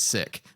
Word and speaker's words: Sikh: of sick Sikh population technical way to say it is sick but it sounds so sick to say sick that we we change it to seek I learned something I